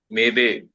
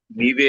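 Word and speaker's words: میوه: मेवे हां मेवे राइट हिंदी उर्दू में मेवा बोलते हैं क्योंकि छोटी जो बड़ी ये होती है वो परेशियन एरोबिक में नहीं होती तो सारा छोटी ये वाला बड़ी ये प्रोनाउंस किया बड़ी ये वाली चीज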